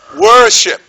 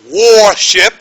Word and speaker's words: worship: examples early early bird worship worship you know sometimes I hear people say warship when they really want to say worship so when you give